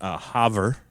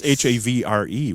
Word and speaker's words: Havre: And then Haver, if you haver. And if you're Flanders reference. Yeah, it's Havre, which is funny because that's the way you'd think the British would spell it.